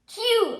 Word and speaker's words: queue: Q. అనంటే spelled Queue and 4 letters తీస్తే Q ఆಗಿದೆ and still same pronunciation. UE తీసేస్తే still letter Q, same pronunciation as line like Q.